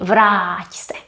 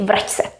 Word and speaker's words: vrať se: And we take away the accent because we don't want to be saying vrať se. We want to say vrať se.